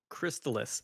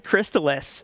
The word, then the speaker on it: Crystalis: say it over swarm crystallus crystallus crystallus only crystallus it's like chrysalis just with a t i see so we